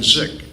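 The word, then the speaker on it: Dzik: corner, and then Diane Zick. It's D-Z-I-K, but pronounced Zick.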